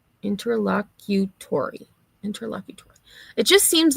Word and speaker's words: interlocutory: So, it's pronounced just as it's spelled. Interlocutory.